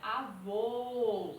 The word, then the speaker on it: avô: O circunflexo não, é avô, é um som fechado.